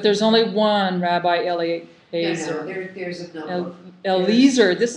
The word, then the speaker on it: Eliezer: But there's only one Rabbi No, Eliezer.